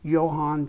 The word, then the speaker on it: Johann: in gold filled engrave lettering Johan which is pronounced with a why in german johann von zoe firlock austria just behind the rear